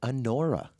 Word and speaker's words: Anora: I didn't see the movie, but I heard the Oscar nominations, and I hope I'm saying it right. Yeah, Anora. I believe that's how it's pronounced.